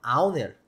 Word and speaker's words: owner: Mas é óbvio que cada aprovação perante o nosso cliente, o nosso Product Owner, até tem que cuidar para não falar Owner, né? É Product Owner, tá? A pronúncia correta.